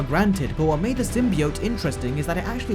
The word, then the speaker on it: symbiote: The symbiote pronunciation.